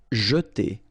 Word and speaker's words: jeter: Jeter. Okay, so here, really this je, and then et.